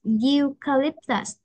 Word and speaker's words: Eucalyptus: Eucalyptus. Eucalyptus. Cái âm này nó là nguyên âm nhưng mà phiên âm của nó là chữ U. Chữ U là phụ âm á.